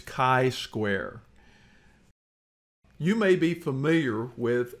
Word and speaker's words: chi-square: of chi-square test but let's start with pronunciation of chi-square it's k-i as in kite not chi or key square it's chi-square you may be familiar